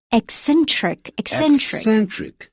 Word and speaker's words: eccentric: 这个呢 G 怎么念呢 Eccentric.